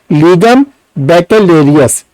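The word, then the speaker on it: Legum Baccalaureus: Latin words में इसकी क्या प्रोनाउंसिएशन हम लोग बोलेंगे, लीगम बैकेलेरियस।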